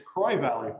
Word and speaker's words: Croix Valley: right we are we are yeah it's it's croy valley croy valley all right see there we go already croix valley we're we're in hudson wisconsin right on the shores of the saint croix river kroy okay see i i added a little extra